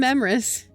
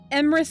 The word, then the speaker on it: Emrys: Emrys absolutely does not rhyme with abyss. Is this some humor that absolutely goes over? Emrys does rhyme with abyss. Emrys rhymes with abyss. I'm not Emrys. I'm Emrys.